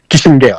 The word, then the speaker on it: Kissinger: défaite de Henry Kisinger alors qu' dit Kissinger tout soit prononcé en américain mais son allemand crié aux États-Unis à 14 ans on dit Kissinger tout Hm hm.